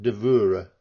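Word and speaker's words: dvůr: to do with dour the word for yard in the Czech language pronounced dor Richardson was allegedly knighted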